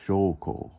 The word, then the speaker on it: 証拠: Now we're going to write right down here proof, which is always pronounced shoko.